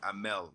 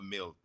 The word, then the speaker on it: Amel: One, my mother's probably watching this, so I'm gonna say my name is Amel, not Emil.